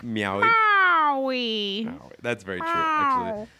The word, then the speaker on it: Maui: We're going to Maui. No, you have to say that right. We're going to Maui. That's not how you say it. You're like also Maui.